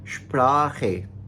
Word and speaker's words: Sprache: अब आप इसकी एग्जांपल्स देख लीजिए, जैसे zum Beispiel for example Sprache, Sprache। अब इसमें ख जो है सी एच से पहले आ आया ना, तो हम Sprache पढ़ेंगे।